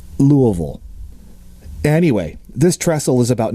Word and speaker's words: Louisville: Lick Creek near Louisville side note for non Kentucky based listeners that is the proper pronunciation try it now Louisville anyway this trestle is